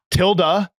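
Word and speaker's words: tilde: is such as this Tilda is how you pronounce it in English till yes it is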